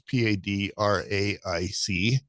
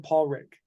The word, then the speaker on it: Padraic: at his name it's p-a-d-r-a-i-c padraic is how you want to pronounce that and he's from Scotland and it's it's pronounced Paul Rick foreign that's funny and